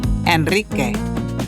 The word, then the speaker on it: Enrique: Also roll the R after the letter N, L, or S. For example, enrique.